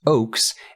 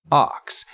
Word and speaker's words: Ochs: I'm pretty confident and it is Oaks and not Ox there are people who